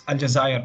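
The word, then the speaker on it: الجزائر: have the capitalist Algiers in French it's algae and in Arabic it's aljazair as well as the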